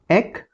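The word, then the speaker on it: ache: जैसे हेडेक बैकक टूथक एकक जो वर्ड है ए सी एच ई एकक। इसमें भी क का साउंड आ रहा है।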